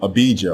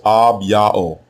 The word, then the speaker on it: Abijah: The way you pronounce his name is Ab-Ya'o. Ab-Ya'o.